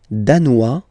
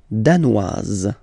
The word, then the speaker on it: danois: Le Danemark, danois, danoise. Z, hein? Okay, insist on that. Danois, don't pronounce the final S. Danoise, here you pronounce it.